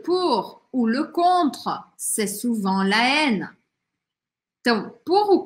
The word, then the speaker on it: souvent: Eu não falo tudo isso aqui no final. Souvent. Ó, eu pronuncio. O que eu não vou falar é o T, tá?